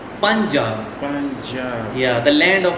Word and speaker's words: Punjab: And tiga is Punjab. Panjam. Punjab. Punjab. Oh, Punjab. Punjab. Punjab.